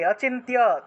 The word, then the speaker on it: অচিন্ত্য: 9 নম্বর অচিন্ত্য রূপ চরিতে চরিতে, অচিন্ত্য তয়ের সাথে জফলা আছে, সেজন্য তিয় উচ্চারণটা আসছে।